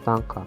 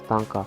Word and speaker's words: Tynker: Number 5 on our list is Tanker. And finally, there is Tanker. Tanker is spelled Tynker.